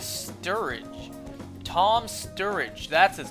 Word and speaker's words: Sturridge: i say last time his like his last name is is strudege no his last name is sturridge tom sturridge that's his